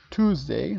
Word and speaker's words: Tuesday: El primero es Monday, Tuesday, recuerden esto como un tú básicamente, Tuesday.